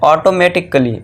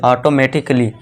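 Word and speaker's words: automatically: फिर है ऑटोमेटिक कली। ऑटोमेटिक कली नहीं यहां देखिए दोस्तों कली है। ठीक है दोस्तों? काली नहीं यह कल काली मत पढ़ना इसे। इसे क्या पढ़ना? कली। ऑटोमेटिकली। क्यों? क्योंकि यहां पे ए के बाद क्या है दोस्तों? डबल एल वाई है। तो इसे हम क्या कर दें? ए को यहां पे साइलेंट रखेंगे। ये ध्यान देना है।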